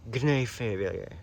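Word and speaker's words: Gnaphalieae: This is not in the Nephalioid tribe of Asteraceae, which is Nephaliae with a G. Gnaphaliae. The G is silent, obviously.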